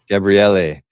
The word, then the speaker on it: Gabriele Dell'Otto: And when the Italians hear us say Gabriele Dell'Otto, they all go crazy. Oh, don't say it like that. That's what I say. But, what you got to really put the Italian flair on it, Bill. Gabriele. Exactly. You got to really, lean into it.